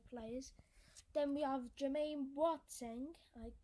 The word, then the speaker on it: Boateng: Then we have Jermaine Boateng, I pronounce his name as Boateng, some people call him Boateng or Boateng, I've heard some people say.